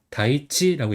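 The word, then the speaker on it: 大地: 그다음에 밧전은 타 또는 다라고 읽는데 여기서 다라고 읽어요. 그다음에 이름은 이제 다이지라고 읽어요.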